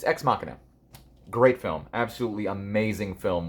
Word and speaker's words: Ex Machina: I kept calling it Ex Machina or Ex Machina, but it's Ex Machina.